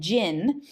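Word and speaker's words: GIIN: this rating system, and Jinn, G-I-I-N, sort of like genie or Jinn, G-J-I-N-N, but it's G-I-I-N, but it's sort of, you can pronounce it the same way, that this Jinn was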